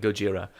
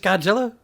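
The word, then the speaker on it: ゴジラ: Every one of those toddlers is a small Asian woman yelling Gojira. And I think that's as far as we can take that bit, because You know, that Gojira is just Godzilla.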